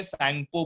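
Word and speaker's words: Tsangpo: और ब्रह्मपुत्र रिवर को तिब्बत में सैंगपो बोलते हैं, जहां पे टी साइलेंट है.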